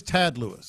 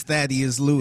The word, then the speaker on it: Thaddeus Lewis: And now he's Tad Lewis. Yeah, no, he was that his whole time in the league. Or Thad. Okay, I was about to say, I was like, however he pronounces it. It was always Thaddeus Lewis.